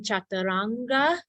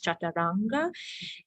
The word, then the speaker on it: chaturanga: so we have in chaturanga the The diacritical Mark is on the top which means retroflex chaturanga oh no on the top it means further back in the mouth chaturanga and then in